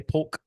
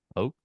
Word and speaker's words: Polk: Say Polk. Pope. Polk. I'm not pronouncing the L in Jalen Pope. It's Polk.